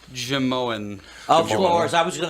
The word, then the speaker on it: Jimeoin: Apparently, it's pronounced Jamoan.